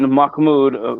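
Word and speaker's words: Mehmed: king or Sultan Makmoud, which is the way the Turks pronounce Muhammad.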